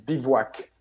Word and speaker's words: Bivouac: It's Bivouac. See, my pronunciation. With a V.